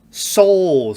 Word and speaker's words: Seoul: ] anyway so pretty soul station yeah soul station it reminds me of that but obviously it's spelled different but just pronounced the same uh a second week